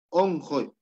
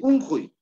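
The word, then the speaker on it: onqoy: Acá, onjoy, onjoy. No se dice unjoy. No se dice unjoy, sino onjoy.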